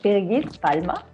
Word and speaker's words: Birgit Palma: My name is, in German said, Birgit Palma.